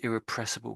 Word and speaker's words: irrepressible: Yeah, it's the eerie bit at the beginning is the tricky bit, isn't it?